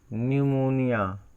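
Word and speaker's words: pneumonia: गया इसका मतलब है अगर पी होता है चुप्पी क्या होता है साइलेंट होता है कि एलियन और यह से पहले न्यूमोनिया ठीक है न्यूमोनिया मिस निमोनिया बीमारी है यहां मैक्सिमम लोग की जानकारी नहीं होती तो इसको Google से दृष्टि से मशहूर नहीं कर पाते हैं यह देखिए यहां से पहले पीस साइलेंट है न्यूमेटिक है ए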